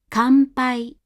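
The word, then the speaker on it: 乾杯: Kanpai, kanpai, kanpai. Gambaru, gambaru, gambaru. Sanma, sanma, sanma. Again, before P, B, and M, the hatsuon is said as an M.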